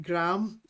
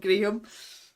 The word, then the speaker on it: graham: that long ago that they're called gram crackers and it's just as you guys pronounce it Graham not gram oh Theos are